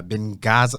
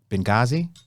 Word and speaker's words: Benghazi: uh been been uh been gaza no i'm saying it wrong benghazi hold up i got